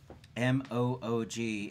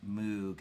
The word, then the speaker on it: Moog: M-O-O-G is not pronounced Moog as in moon. It's Moog as in rogue.